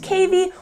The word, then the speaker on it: cavy: this is a baby patagonian cavi or it can be pronounced cavey or they can also